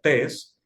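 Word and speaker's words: τῆς: expresión que ven allí que se pronuncia test la presencia del artículo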